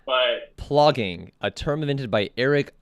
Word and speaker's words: plogging: Because I thought it was like flogging, but it's plogging. That's what it is. It's plogging.